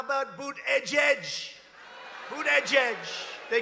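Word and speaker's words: Buttigieg: you know why because nobody can pronounce his name nobody has any idea who Ned's it's they say say edge edge and he presides over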